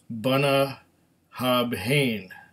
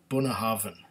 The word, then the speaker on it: Bunnahabhain: it wrong I mean the first time I saw it it was Buna habob Haan but it's not bah habh it's buah havan now this buah Haven